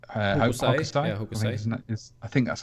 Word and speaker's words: Hokusai: So it was, the artist was Hokusai. Yeah, Hokusai.